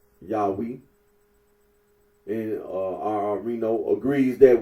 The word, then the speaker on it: Yahweh: very uh significant here when you say Yahweh uh the scholarly consensus is that the original pronunciation of the tetr gron was yahi and uh Rino agrees